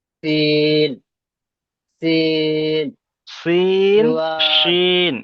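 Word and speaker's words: شين: যা যা scene scene scene, জুয়াদ শিন, এই শিনের উচ্চারণটা আসছে না। প্রথমটা হবে সিন সিন, দ্বিতীয়টা হলো শিন। সিন শিন, শিন বলার সময় মুখ থেকে একটু সিন হাওয়াটা বেশি বার হবে।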